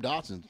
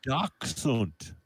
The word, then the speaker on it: Dachshund: No, them Dachshunds. I'm talking about the little dog, little short dog, long short dog. Oh, Dachshund.